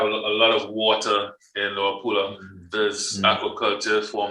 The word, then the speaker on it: Luapula: So based on all the information around with the Leolupa, am I pronouncing that right? Luapula, yes.